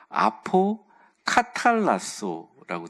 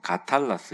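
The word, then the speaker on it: ἀποκαταλλάσσω: 아포 카탈라소라고 돼요. 뭐 가탈라소 이렇게 발음하기도 하는데, 아포라는 말이 뭐냐면 혼합하다 이런 뜻이에요.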